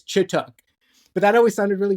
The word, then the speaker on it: Chituc: So in Romanian, where my family is from, it'd be pronounced Chituc. I grew up saying Chituc.